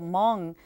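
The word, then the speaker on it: Hmong: know about sure so for most people Mong uh doesn't sound the way it's spelled it's actually hm o n g and Mong Americans in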